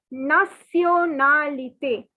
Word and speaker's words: nationalité: Even though the spelling is similar to the English word, but the pronunciation is quite different. So it is nationalité.